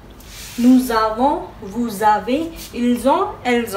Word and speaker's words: nous avons: It is happening because here it is ending with S and the avo is starting with the vowel. So it has a sound of liaison, that means nous avons,